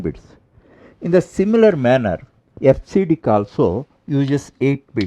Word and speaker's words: EBCDIC: Now let us take up the concept number 2.9, FCDIC coding scheme. This is pronounced as FCDIC.